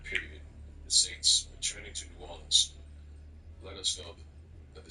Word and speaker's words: New Orleans: It is New Orleans. What are you talking about? It is New Orleans.